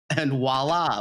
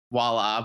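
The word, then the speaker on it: voilà: You ever see on certain places where they spell voila like WALLAH like WALLAH? It's like not how you spell it. It's spelled like with a V, like voila, but like people say and voila, just like that.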